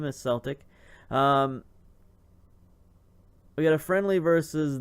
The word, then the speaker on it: Celtic: I have learned to pronounce the name as Celtic.